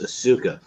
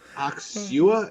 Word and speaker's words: Asuka: Asuka.